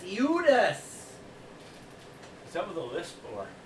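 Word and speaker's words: Eudes: his name well yes i would hate to mispronounce mine as well which is the offensive judas e-u-d-e-s eudus some of the lists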